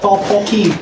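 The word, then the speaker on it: tteokbokki: Ini bacanya topoki.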